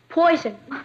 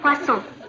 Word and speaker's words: poisson: Poison. That's pronounced poisson.